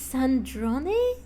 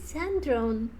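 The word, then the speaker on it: Sandrone: Oh, it's Sandron. I always thought it's sand as the pronunciation.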